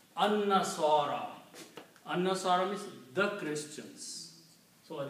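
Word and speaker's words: النصارى: will be pronounced as an-nasara. Lam is not pronounced. So this word will be pronounced alif with the noon, and noon will have a shadda because lam is not being pronounced. An-nasara.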